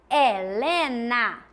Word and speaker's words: Helena: E quando eu pronuncio, quando eu falo a palavra Helena, saem os 6 sons? Helena. Não, também nós temos um H.